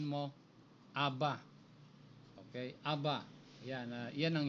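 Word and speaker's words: Abba: na yan yung alep at saka yung best bibigkasin mo Aba Okay Aba yan yan ang Hebrew ng Hebrew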